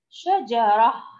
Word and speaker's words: شجرة: أحسنتم، بتاء مربوطة، والتاء المربوطة تنطق عند الوصل تاء، أما إذا وقفنا عليها ننطقها شجرة تنطق هاء.